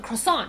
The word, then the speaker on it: croissant: 可以听到它的中文 croissant 就跟可颂其实是听起来差不多的。这个法文要怎么念？ croissant。